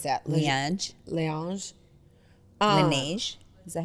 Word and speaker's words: Laneige: How do you pronounce that? Laneige. Laneige.